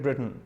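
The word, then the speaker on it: Britain: ब्रिटेन, ब्रिटेन छोड़िए, ब्रिटेन भी नहीं होता, टी ना के बराबर साउंड रखता है।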